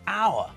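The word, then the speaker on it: hour: vowel not a consonant the would our sounds like it starts with an O not an H so we say an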